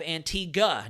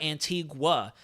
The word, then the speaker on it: Antigua: neis guadaloop and then we have Antiga not Antigua that's perfect thank you